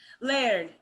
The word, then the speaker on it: Laird: have it's layered I don't know how to pronounce it Laird perfect they have a title for Lord perfect